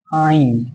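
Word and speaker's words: عين: জদ, জদ, ত, জ, আইন। উচ্চারণটা গলার ভিতর থেকে হবে আইন, আইন।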